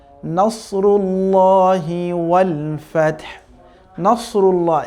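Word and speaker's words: نصر الله: ইযা জা নাসরুল্লাহি ওয়াল ফাতহ। নাসরুল্লাহ, এখানে কিন্তু সাদ আছে দেখতে পাচ্ছি আমরা, সুতরাং সাদের উচ্চারণ সাদের মতোই হতে হবে, সিনের মতো, যেমন নাসরুল্লাহ যাতে না হয়ে যায়, আবার নাসরুল্লাহ যাতে না হয়ে যায়।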